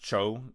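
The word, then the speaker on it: 超: up says I'm because Cho in Japanese it's pronounced Cho c h o u which is literally the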